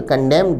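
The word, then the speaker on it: condemned: शब्द कंडेम्ड में एन को उच्चारित नहीं किया जाता। इसे साइलेंट रखा जाता है।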